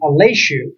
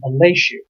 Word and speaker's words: Aleshu: And I learned Aleshu is the way you pronounce his last name, Aleshu.